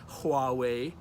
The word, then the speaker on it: Huawei: has one now or Huawei it's pronounced Hawaii with the H I asked my friend